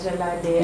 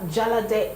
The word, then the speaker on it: Jalade: Okay, so her name is Omotola Jalade Ekinete. I think that's how the Nigerians pronounce it. Omotola Jalade Ekinete.